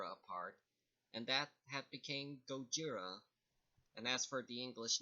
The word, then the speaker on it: Gojira: be noted again his original japanese name is Gojira but did you know that the word is